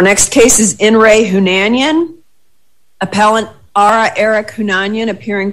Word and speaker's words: Hunanyan: Is it Hunanyan? Yes, it's correct, Hunanyan.